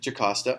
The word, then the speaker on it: Jocasta: So it is pronounced Jocasta.